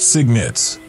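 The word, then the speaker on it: cygnets: signets are the years young swans pronounced signets signets of gray feathers that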